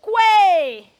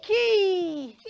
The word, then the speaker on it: quay: say Never Say Never Say Quay qu you should say you should say keyy let's go to word